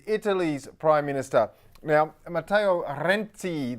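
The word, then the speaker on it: Renzi: Prime Minister now Mateo renti The Zed is just a single Zed but you say it like that double Zed in pizza and he's Italy's youngest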